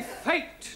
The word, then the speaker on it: fate: Let us take the word F-A-T. Now, that has a flat A sound. Good. But if we add an E to the end of fat, then what do we have? Fatty. No, Giovanni, fate.